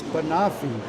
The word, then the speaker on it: Banoffee: Eden had to help me learn how to pronounce Banoffee.